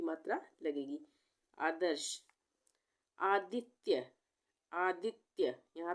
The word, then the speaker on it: आदित्य: करेंगे यहां पे आदित्य अगर हम पूरा त बना देंगे तो ये क्या बन जाएगा आदि तय आदि तय बन जाएगा पर हम इसको कैसे प्रोनाउंस कर रहे हैं कैसे बोल रहे हैं आदित्य तो आधा ता लिखेंगे